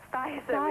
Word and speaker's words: Spicer: Spicer with an S. Do you know how to Lovely pronounce name.